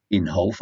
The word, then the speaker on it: Inhofe: on Republican Jim Inhofe it's called Inhofe I did check pronunciations that's what they said it was Jim Inhofe dumped up to four